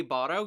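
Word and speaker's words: Barou: Now, the reason I know that's AI is because when it comes to when you say Baro, you say it like BARO with like a long O.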